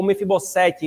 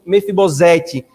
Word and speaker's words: Mefibosete: O único que sobreviveu, irmãos, então, fora Mefibosete, ou Mefibosete, né? Na hebraica, essa é a pronúncia, né? Mas no português fica Mefibosete.